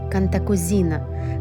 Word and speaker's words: Cantacuzino: бычок украшать мы произносим кантокузино но правильно ставится ударение на и кантакузина князь Георгий контакузина считался